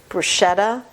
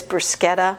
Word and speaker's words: bruschetta: There's a designer that's spelled Moschino, but it's pronounced Moschino, kind of like my husband always calls the appetizer bruschetta, but it's bruschetta.